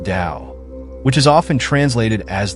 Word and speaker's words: Tao: Taoism centers on the concept of the Tao, pronounced Dao, which is often translated as the way or the path.